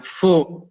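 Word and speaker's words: 福: Orang bilang fu, itu saudara lihat sebelah kiri ini fu bacanya.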